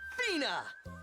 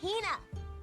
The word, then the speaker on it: Hina: And this young lady is my traveling companion, the esteemed archaeologist, Fina! Ugh, you keep saying it wrong. It's Hina. Hina.